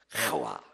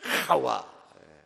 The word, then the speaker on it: 하와: 요거 목구멍 끓는 소리입니다. 했던데 카야의 명사형입니다. 하와. 발음이 잘 안 되네 오늘. 하와. 한번 해볼까요? 시작. 목구멍이 좀 끓어야 된다니까요. 한 번 더 시작. 하와.